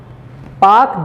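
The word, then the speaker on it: Palk: पाक ही है वो, पाक, पाका PAL के, हाँ वो के वहाँ पे साइलेंट, एल जो है वो साइलेंट रहता है, ठीक है।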